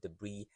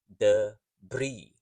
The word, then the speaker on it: debris: you can see that the pronunciation of the word debris does not correspond to its spelling so the S is silent the Bri the Bri so the